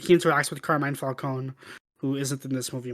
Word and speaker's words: Falcone: he interacts with carmine falcone who isn't in this movie much oh yeah falcone or falcone oh yeah they call him falcone in this hey hey people making movies us spaghettis is pronounced falcon okay but i think